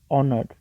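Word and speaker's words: honoured: respected by everyone तो कुछ लोग ऑनर्ड को नर्ड पढ़ते हैं हेयर एच इज साइलेंट तो हम ओ से स्टार्ट करते हैं तो we pronounce it like ऑनर्ड ठीक है बच्चे तो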